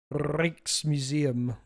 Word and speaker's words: Rijksmuseum: Is it Reeks or Rikes? Ricks? Please help. I'm Canadian. Because we saw they were doing maintenance on Night Watch. Rikes? Rijksmuseum.